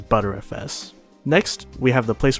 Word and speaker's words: BTRFS: You want to pick a race disc, and under it, pick BTRFS, which is pronounced as butterfs.